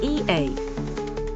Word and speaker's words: ie: E pronounced EA.